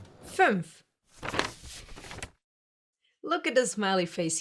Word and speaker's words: fünf: The first one is to form your mouth like you want to say a U, like in soup, for example. But instead of saying a U, you say the letter E.